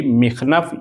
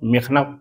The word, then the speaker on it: مخنف: ہے بلکہ فدق ہے۔ اسی طرح سے ابو مخنف بعض بولتے ہیں، بعض اس کے علاوہ تلفظ کرتے ہیں، لہٰذا اس کا صحیح تلفظ جو ہے وہ ہے مقتل ابی مخنف یا ابو مخنف، اصل تلفظ مخنف پر توجہ رہے۔ یہ کتاب اپنے اعتبار